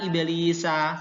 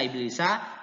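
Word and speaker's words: إِبْلِيسَ: Kemudian Quran surah Bani Israel ayat 61, illa iblisa, tulisannya kan illa iblisa, tidak boleh dibaca illa iblis, nggak boleh dibaca ilis, terus harokat sinnya diganti ke ya yang sukun, nggak boleh, tetap dibaca illa iblis.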